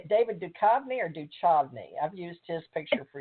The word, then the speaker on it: Duchovny: How do you say it, David Duchovny or Duchovny?